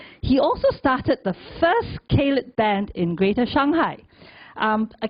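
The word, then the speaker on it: ceilidh: proud northern englishman he also started the first caled band in greater shanghai a caled for those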